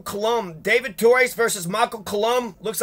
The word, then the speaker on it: Colombe: torres versus michael colombe david torres versus michael collum looks like colombe but pronounced colombe this is the democratic primary for the congressional